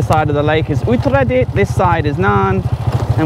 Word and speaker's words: Uttaradit: Uttaradit. Uttaradit.